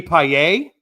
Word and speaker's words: Payet: And I met Pags, Jamie Payet. I learned that's how you actually say his name, Payet.